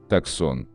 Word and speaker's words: Tucson: Так, внедорожник Hyundai Tucson чаще всего называют Tucson, Tucson, Tucson, Tucson. А на самом деле Hyundai Tucson назван в честь североамериканского города в штате Аризона и правильно произносится как Tucson.